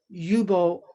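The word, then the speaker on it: Ljubo: and his name is yubo lulich and the yubo is spelled l-j-u-b-o and already people have trouble with that which also can kind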